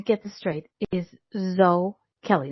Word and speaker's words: Zoe Kelly: Tonight, my guest, I'm going to get this straight, is Zoe Kelly. Not Zoe. Even though you have an E, the E is silent, unlike Rick or Ick. It's not silent. Zoe Kelly.